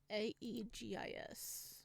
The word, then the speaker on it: Aegis: ain't that right uh agus agate egus okay I'm making sure I'm saying that right um a-e-g-i-s I don't feel like I'm saying it right Aegis Aegis okay Aegis